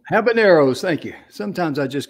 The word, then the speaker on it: habaneros: jalapeno organic habit how do you say that haber feminero habaneros thank you sometimes i just can't get some